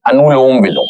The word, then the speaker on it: अनुलोम विलोम: तो पहले coming towards the अनु अलोनोम विलोम अह अलमह कई लोग इसको अलग-अलग तरीके से प्रोनाउंस करते हैं। It's well like ए एन यू एल ओ एम अनुलोम विलोम that's अ correct pronunciation तो जस्ट पुट योर